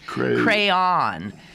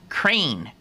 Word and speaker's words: crayon: southwestern Pennsylvania it says crayon rhymes with Dawn crayon crayon what and then and one syllable crane no as in man